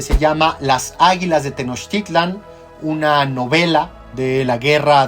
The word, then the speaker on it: Tenochtitlan: Generalmente dicen Teotihuacán o Tenochtitlán. No, realmente, si uno quiere pronunciarlo lo más cercano al náhuatl, estaríamos hablando de Tenochtitlan o Teotihuacán.